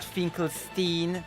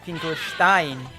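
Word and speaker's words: Finkelstein: the name correctly not finl Stein not finl Stein finle Stein because it's German Stein for stone fle Stein you know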